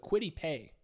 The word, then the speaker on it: Kwity Paye: going to be aided by the presence of Kwity Paye. That's how you pronounce his name for the Colts on the defensive line.